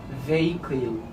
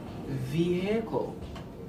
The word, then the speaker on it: vehicle: Usually some people say vehicle, vehicle. No, it's vehicle, vehicle, vehicle. It is pronounced as vehicle.